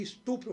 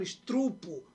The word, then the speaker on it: estupro: Em lugar de eu falar aqui estupro, eu falo estrupo.